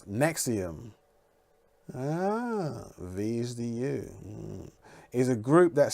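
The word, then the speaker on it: NXIVM: is mix of them yeah mix of them pronounce nexium these is a group that started in 1998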